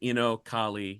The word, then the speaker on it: Inocalla: Well, when I was on Twitter bio, my Instagram bio, all the shit says Inocalli, yeah, because that's the pronunciation.